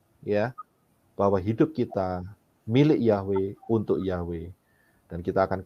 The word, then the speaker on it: Yahweh: Kalau saudara perhatikan, ya, kata Yahweh, ya, itu cara kita menyebutkan, mempronunciasikan, ya, menyebutkan. Tetapi penulisannya adalah Yod He Waw He.